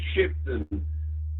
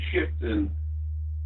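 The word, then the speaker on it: Shipdham: LGF, yeah, I'm in a village called Shipton, which is spelt weird. It's Sierra, Hotel, India, Papa, Delta, Hotel, Alpha Mike. It's a village called Shipton, and the nearest town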